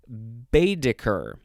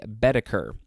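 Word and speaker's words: Baedeker: it twice okay next we have bediker capital b-a-e-d-e-k-e-r it could also just be beta-ker uh this is a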